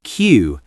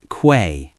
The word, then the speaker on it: queue: It's pronounced Q, not qu.